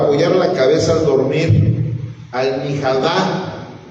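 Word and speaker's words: مخدة: Almihadá. O sea, es la pronunciación en el árabe, y ahí está escrito en como, así de la manera que se escribe la almohada.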